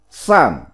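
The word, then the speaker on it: 扇: Phiên âm tiếng Trung đọc là sản, âm nôm đọc là phiến, là thiên.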